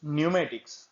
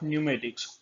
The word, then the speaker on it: pneumatics: Wait, this word is pneumatics, not pneumatic. Never pronounce it like pneumatic because P is silent in this word.